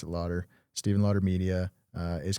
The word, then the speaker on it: Laughter: Yeah, pronounced it Lauder.